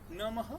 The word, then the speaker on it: नमः: तो संस्कृत के अनुसार विसर्ग जब आपका है तो हो या हा, नमः नमः। यू can pronounce either whatever you think appropriate.